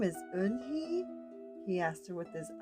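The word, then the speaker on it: Unhei: turned to Joey she nodded slowly yes it's pronounced Yoon head and it means Grace Mr Kim added Yoon hey Joey says slowly and this time perfectly it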